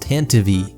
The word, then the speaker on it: Tantive: For one, you're probably going to see people in the comments saying it's pronounced Tantive, which does seem to be technically correct, but it's just silly.